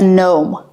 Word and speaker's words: gnome: This is a gnome. Remember the letter G silent.